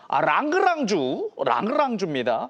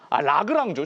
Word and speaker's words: 라그랑주: 랑그랑주입니다. 어제 방송할 라그랑주, 제가 발음을 너무 굴렸네요.